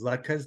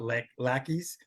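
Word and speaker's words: latkes: some family stories about lkas the the correct pronunciation is luas not L lais as we had a daughter come home from school through the teacher insisted it was lacky and it and my daughter said um I'm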